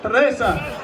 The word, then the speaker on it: Teresa: Yeah, roll that R. Teresa.